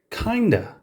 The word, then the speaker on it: kind of: speech becoming written language although kind of is pronounced kinda the correct way of spelling it is kind of our next example is